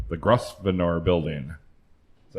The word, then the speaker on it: Grosvenor: The Grosvenor building. Is that how you pronounce that name? Grosvenor.